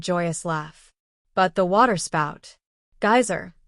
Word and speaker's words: geyser: The geyser, a word the Icelanders pronounce geyser, and which signifies fury, rose majestically from its summit.